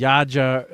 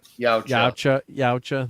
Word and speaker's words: Yautja: It's like the Yaja.